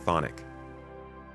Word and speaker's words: Chthonic: Chthonian? What the heck is Chthonian? Chthonic? Oh, it's just pronounced thonic.